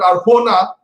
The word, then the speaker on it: Arjona: In Spanish, Victor tells me they pronounce it Arjona, but it came actually from Persian, from Sanskrit, from Arjun only.